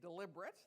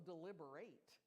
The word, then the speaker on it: deliberate: go two ways because that word can be pronounced two ways right it can be deliberate that you are deliberately doing it but it's also deliber that there's conversation and discussion so they both apply